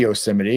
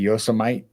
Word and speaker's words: Yosemite: Do you pronounce it Yoseimity? We say Yoseimity. It could be Yosomite, but Yoseite is what we normally say.